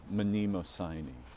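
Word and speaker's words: Mnemosyne: But um they suggested that the name was Manimosi, right? So you pronounce the M.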